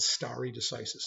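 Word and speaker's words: stare decisis: the latin term from your first chapter called starry decisis and somebody said would you please spell it you're asking the wrong guy how to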